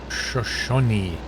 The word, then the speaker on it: Shoshone: Oh more spice shop shoshanna's an Indian tribe pronounced Shoshone honey I'm building in